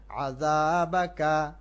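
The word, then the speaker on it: عذابك: ওয়া নাখশা, শিন এক আলিফ টান, ওয়া নাখশা আযাবাকা, এখানে আযাবাকা জাল এক আলিফ টান এবং জাল হলো হালকা জ, জিহ্বা বের করে বলতে হবে।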